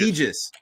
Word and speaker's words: Aegis: from here on out I'll try not to say Aegis anymore I just I again apologies I whatever I suck at pronouncing things sometimes and yes I'm a language teacher but yeah egis egis gotcha all right so we